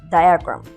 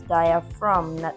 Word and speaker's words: diaphragm: explained to them that the word diaphragm has the ph that sounds like the f and then we have the g that is silent so therefore the word is dia from diagram and i asked